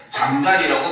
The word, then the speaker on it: 잠자리: 형태소로 이루어진 낱말이기 때문에 잠자리라고 발음을 하는데 두 번째는 바로 뭐야? 잠과 자리가 합쳐진 거거든요. 이건 나중에 그 음운 변동하면서 선생님이 다 수업을 해줄 겁니다. 알겠죠? 그래서 합성이 되면서 여기가 된소리가 돼버려요.